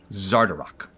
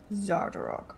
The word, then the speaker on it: Xardorrok: Fun fact, everybody. For this game, they provide you a pronunciation guide. So. Yeah, they did that for Avernus also. It was fantastic. So... Zardarok. Zardarok, all right.